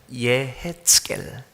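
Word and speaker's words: יְחֶזְקֵאל: 그래서 월, 화, 수, 목요일 새벽에 에스겔을 하게 될 텐데, 에스겔이 이렇게 발음합니다. 예헤츠겔, 예헤츠겔.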